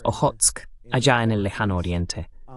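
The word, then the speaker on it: Okhotsk: del Mar Negro, y siempre lo pronuncio mal, es Ojotsk, allá en el lejano oriente.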